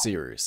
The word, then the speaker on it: Cyrus: always, my name is Cyrus. It’s spelled like “Cyrus,” pronounced like “See Rooster,” just take out the “ter” Thank you very much for watching, and have a wonderful day!